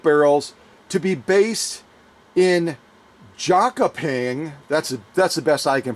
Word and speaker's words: Jönköping: plant for musket barrels to be based in Jönköping. That's the best I can pronounce it.